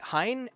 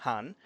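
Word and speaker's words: Hahn: the hulfahan i've heard a lot of people say hein and it's very understandable the thing is that the the word means rooster han and it's kind of an old spelling normally we would spell it with two a's kind of pretend like you're saying han solo but a little longer the halfahan that's probably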